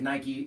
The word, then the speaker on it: Nike: but that you know Nike pronounces it Nike you have to pronounce it however they say that's like you know